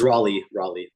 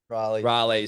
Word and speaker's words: Raleigh: Is it pronounced Raleigh? It's Raleigh. Raleigh.